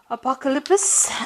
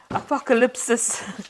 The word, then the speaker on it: Apocalypsis: some cards from the tarot apocalyps and um apocalypsis okay apocalypsis tarot um and let's see what's going on I have Mis been mispronouncing that word the whole day today okay let's